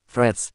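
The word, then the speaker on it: Threads: y memes no obstante el nombre se pronuncia como Friends es decir que se suprime la fonética de la letra a tal como indica el diccionario de Cambridge Cuáles son las funciones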